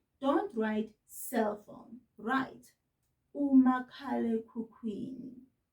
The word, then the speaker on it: umakhalekhukhwini: So if you're doing schoolwork, don't write cell phone, write umakhalekhukhwini. Repeat this after me, mngani, making sure that you're pointing at each and every syllable so that you say it correctly.